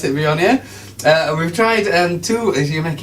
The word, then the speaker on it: Viognier: So we're talking about the wine I have a real problem with, a real hang-up in pronouncing, Viognier.